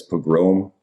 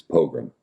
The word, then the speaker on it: pogrom: In German it's pogrom, and in English it's pogrom.